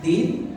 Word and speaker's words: الدين: كلمة الدين فيها حرف دال. Kalimat din itu ada huruf dal di situ. هذا الحرف يخرج من هذه المنطقة Ini huruf dal itu keluar dari bagian